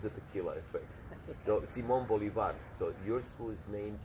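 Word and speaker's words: Bolívar: So Simon Bolivar. So your school is named after the city. Simon Bolivar. It was Bolivar. But Bolivar. They Americanized it. Simon Bolivar. Bolivar. But the original pronunciation, the accent is Bolivar.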